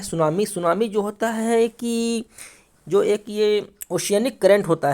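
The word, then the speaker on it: tsunami: की आपको पता है सुनामी में टी साइलेंट होता है इसको सुनामी पढ़ते हैं और दिस इस डी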